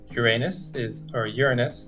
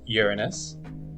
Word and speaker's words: Uranus: Yeah, I should say there's two ways of pronouncing this. The first way, like I said, is Uranus, but some people say Uranus.